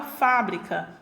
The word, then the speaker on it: fábrica: Da mesma forma que mostrando para vocês a palavra fábrica, né? Minha sílaba tônica pronunciada com maior intensidade é a sílaba Fá, né? Ela está na antepenúltima posição. Então, ela é classificada como proparoxítona.